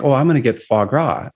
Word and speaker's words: foie gras: probably like flash grass or something but it's foie gras fog for foie gras it's goose liver and